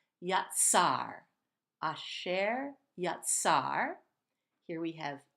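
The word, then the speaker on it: יָצַר: Moving on, we have yatzar. This letter tzadik, unique one in Hebrew, combines a T and an S sound, or a T and a Z sound, like in pizza, the double Z. Yatzar.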